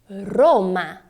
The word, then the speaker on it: Roma: Regina Rê você acertou Vamos Fazer uma comparação entre os sons para deixar bem claro essa diferença em português nós temos Roma em italiano Roma perceba que a sua língua na pronúncia do italiano ela sobe e treme Roma guerra em português